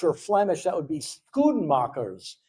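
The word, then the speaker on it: Schoenmakers: And then in Dutch or Flemish that would be Scoomachers. Some people will pronounce it the German way. Shernmaker or shoemaker.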